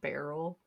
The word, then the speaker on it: Beryl: I had to look up a pronouncer, and her name's like literally said like barrel, and us just put the Beryl word barrel.